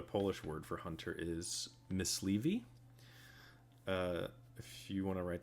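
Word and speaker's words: myśliwy: And then you said Mysliwi. Yes. That is the Polish word for hunter. So if you are... Wow, we didn't know the W is pronounced like a V.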